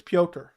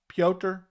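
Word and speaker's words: Petr: different all the time I believe it's pyoker pyoter pioter pioter like almost like p e o t e r is how you would kind of pronounce it that's what I that's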